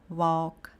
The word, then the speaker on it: walk: A gente também tem um grupo de palavras em que o nosso L vai ser mudo. Então são palavras como walk, talk.